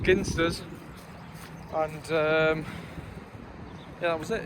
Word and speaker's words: Ginsters: I was well known at college for always having pepperonis, ginsters pasties, properly pronounced ginsters, and yeah, that was it.